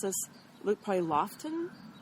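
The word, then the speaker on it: Loaghtan: It's called Manx, and I don't know how to pronounce this. Look, probably Loughton. It's Loughtan, and it's a beautiful kind of caramel colored brown.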